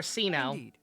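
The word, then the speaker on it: Cyno: there's no need to use my full title Sino is fine or sir if you absolutely must or see now how it's supposed to actually be pronounced capacity just call a company on her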